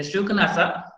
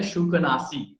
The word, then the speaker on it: Shukanasa: The Shukanasa, sometimes it pronounced as a Shukanasi.